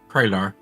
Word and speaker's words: Kralar: Is it Kralar or Krelar? Kralar. Kralar, okay. Cray as in crayon, Right, Kralar. I have or Cray supercomputer, or I have A an great investigator.